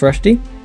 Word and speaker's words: Rushdy: So, for all of our listeners, I'm joined by Alex Rushdy. Did I pronounce that correctly?